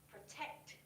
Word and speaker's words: protect: you repeat after me for pronunciation should be on the second syllable protect protect yes for the second